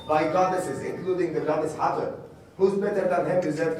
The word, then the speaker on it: Hathor: Het-Her. Now we pronounce it in Arabic Hathor, and in English Hathor.